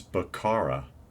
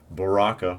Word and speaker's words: Baraka: mortal kombat line and this is bakara or baraka i'm sorry i said it wrong baraka from mortal kombat for